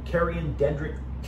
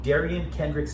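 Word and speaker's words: Derion Kendrick: Finally, definitely put some respect on rookie cornerback Kerryon Dendrick. Sorry. Put some respect, and by the way, I should pronounce it correctly. Put some respect on rookie cornerback Darian Kendrick's name.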